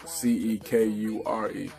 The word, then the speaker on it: Cekure: my name is spelled Cekure, and I was like, I know C actually makes the same sound as S in some cases, like with the word scent.